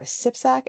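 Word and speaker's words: CPSAC: safety association of Canada or SIPsac as we pronounce it.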